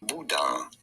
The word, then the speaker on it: boudin: For reference, in France, it is said as boudin.